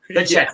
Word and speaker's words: Pacheco: No, it's like, what is Isaiah Pacheco? Pacheco. That's how you pronounce it, but Pacheco.